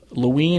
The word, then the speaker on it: Loween: Loween is spelled L-O-W-E-E-N, and it's derived from the word Halloween. And it's one like of the Halloween without Hal.